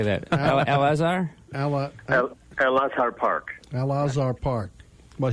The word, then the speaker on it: Al Azhar: How do you pronounce that? Jim, how do you say that? Al Azhar? Al Azhar Park.